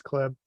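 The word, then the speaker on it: Kleeb: It's spelled Klebe, but it's Klebb.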